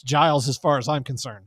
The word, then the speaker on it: Giles: You want to call it Gills? Yes. I say it is Giles. Giles County. It's It's Giles as far as I'm concerned.